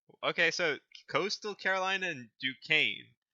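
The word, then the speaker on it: Duquesne: Coastal Carolina and the team I can't pronounce. So, go ahead. Dukane.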